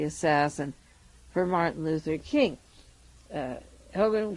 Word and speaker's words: Hougan: Hogan can write, I guess that's how you pronounce his name, it's Hougan, can write about Bobby